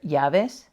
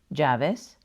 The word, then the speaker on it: llaves: The only difference is that when you have a double L, it sounds like the English Y, J, or SH, depending on where you live.